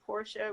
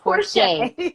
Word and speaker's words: Porcher: A lot of people say Portia when they're reading it, and I just smile politely. Okay, but it's pronounced Porcher. Y'all got that, Porcher.